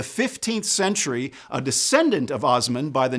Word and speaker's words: Osman: His name was Osman, also sometimes pronounced Utman.